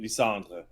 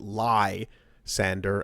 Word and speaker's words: Lysandre: most people pronounce it lie sander as in to tell lie and sanding this goes for people